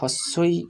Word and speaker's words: হিংসা: সা দন্তস্বয়ে আকার সা, হিংসা, অর্থাৎ হয়ের সাথে হস্যই যোগ হয়ে হি হয়েছে আর অনুস্বার তার সাথে যোগ হয়েছে, তাই উচ্চারণ হচ্ছে হিং সা, দন্তস্বয়ের সাথে আকার যোগ হয়ে সা হয়েছে, তাই এর সম্পূর্ণ উচ্চারণ হবে হিংসা, হিংসা।